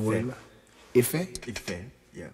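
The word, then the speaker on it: ìfẹ́: The Ife. Word Ife.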